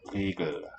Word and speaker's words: Regel: It's really a syllabic L. Regel, right? The open vowel here, long.